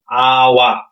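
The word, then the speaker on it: awak: ওরা এই যে কেটা, লাস্টে কেটা, ওরা যেরকম এখানে লেখা থাকে কি আওয়াক, আওয়াক, কিন্তু মালয়েশিয়ানরা এই আওয়াক কখনোই বলে না, ওরা বলবে কি আওয়া।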